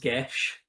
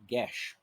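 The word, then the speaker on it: geas: ] that it's so it's an Irish word it's pronounced gesh um gesh yeah that sounds significantly less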